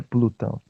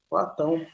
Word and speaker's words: Platão: Professor, qual é a pronúncia do nome do discípulo de Sócrates? É Platão ou é Plutão? Platão. Platão.